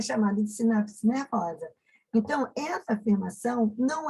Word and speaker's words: sinapse: As suas terminações nervosas, elas convergem a uma região conhecida como sinapse. O S é mudo, tá? E o P também, né? Perdão. S-I-N-A-P mudo C-S-E, sinapse.